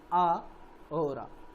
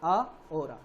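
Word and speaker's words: ahora: Hora means a hora, it is actually pronounced a hora, a hora.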